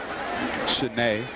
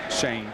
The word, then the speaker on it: Shanae: Sinead price and yes we are pronouncing that correctly Shanae price not Shane Shane always around the football is mr.